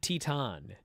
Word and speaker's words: Titan: Bushi and Titan. Which is how you pronounce it. Because I am Mexican.